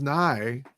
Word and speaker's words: Nye: Well, his last name's pronounced Nye, and all like for the first 3 or 4 episodes when we recorded, I kept having to do new takes because I just kept saying Joni Loves Action Force, and he's like, it's Nye.